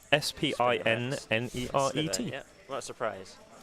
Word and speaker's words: Spinneret: A Spinneret.